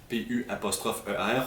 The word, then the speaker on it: Pu'er: le plus correctement possible, P-U''er, on le prononce quand même un petit peu en mandarin pour faire puer.